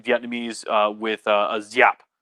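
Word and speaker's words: Giáp: uh with uh a zyap g has a little bit of z in it and so if you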